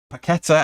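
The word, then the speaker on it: Paquetá: rice and emerson in midfield and um uh paqueta as you're supposed to pronounce him and scamaca up front on the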